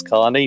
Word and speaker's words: Kearney: Of course, my pronunciation of Kearney has been corrected. It's Carney, but I'm saying Kearney. I'm sticking with that.